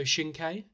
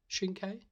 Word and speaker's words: Shinkai: And the next one is our next animation, which was Your Name by Makoto Shinkai. Am I right? Is that correct pronunciation? Shinkai?